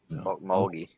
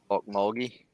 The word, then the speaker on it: Okmulgee: how do you say that then Oklahoma mahogi Okmulgee huh Okmulgee Oklahoma I'm not big into rodeos but uh